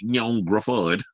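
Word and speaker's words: Ioan Gruffudd: So, Ian Griffith, I know who his name is always spelled Ian Griffith, but it's pronounced Ian Griffith.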